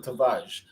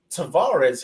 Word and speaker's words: Tavares: But, Nuno Tavares is somebody where in Portugal, that's how they would pronounce him. Tavares, however, is the name that most people in the UK will associate him with.